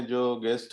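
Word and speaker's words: Django: tools होता है जैसे जांगू है जांघों का स्पेलिंग होता है DJ एनजीओ और दी जाएंगी वैसे है उसका पहले पर बोलते जांगू हैं तो वह भी ठीक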